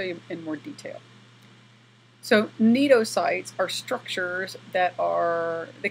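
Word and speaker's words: cnidocytes: is that they possess neato sites the C is silent so neato sites and I say here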